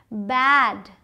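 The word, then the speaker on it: bade: बैड बी ए डी बैड और बी ए डी ई बेड.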